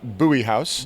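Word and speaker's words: Bowie House: Worth Texas called uh buoy house buoy house interesting name spelled Bowie but not as in David pronounced buoy um Fort Worth is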